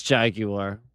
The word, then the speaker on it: Jaguar: it's it it it is it it is Jaguar. It is Jaguar. He's right. It's not Jaguar. He's right. There's no There's no W in that. He's right. Jeremy Clarkson. He's right. It's Jaguar.